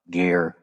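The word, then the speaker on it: Gaear: Now, G is G is, you know, weird first name. G A E A R. Gear is a he's kind of scary guy.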